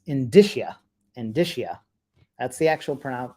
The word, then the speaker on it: indicia: how they're said uh I have always said in Tisha that's how I always pronounce it in disha I'm pretty good with